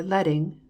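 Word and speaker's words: leading: to lighten the page line spacing or letting rhymes with sledding refers to the amount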